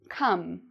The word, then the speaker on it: come: So, notice how the verb in "come" sounds: "ome", it actually sounds like: "um": "come". Now, what do you no-... and the "c", you'll notice, is pronounced like a "k" or a "k" sound.